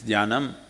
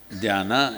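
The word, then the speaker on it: dhyan: imagining meditation means dan it's dam in Sanskrit dana in southern Indian languages you ate up the last two syllables and made dam all right but you think you're correct it's all right in Sanskrit it's dam dam if you do what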